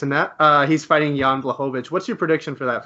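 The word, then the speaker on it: Błachowicz: Blachowicz. Blachowicz. Yeah, I butchered that.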